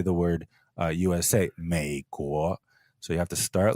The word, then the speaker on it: 美国: By far, the most common way to mispronounce it is up and down, 美国 instead of 美国. I call this the 3-2 tone swap.